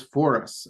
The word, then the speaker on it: Foras: the goaa which is for us um is how I've always heard it pronounced um now in appearance